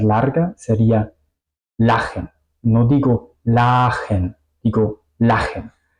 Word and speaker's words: lachen: La sílaba finaliza en la A, pero se pronuncia corta porque tenemos una CH después, ¿ok?